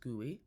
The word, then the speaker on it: GUI: Um it says GUI but it is pronounced guey.